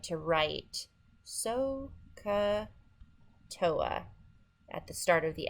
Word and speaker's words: SOHCAHTOA: remember the trigonometry she owes and it is pronounced sohcahtoa sohcahtoa but you have to know how to spell